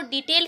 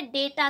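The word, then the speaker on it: data: तो आप इसको देखिए, अगर बात कर रहे हैं प्रोनाउंसिएशन की, बहुत से लोग इसको डाटा भी पढ़ते हैं, डेटा भी पढ़ते हैं। फिलहाल दोनों ही चीज़ें सही हैं।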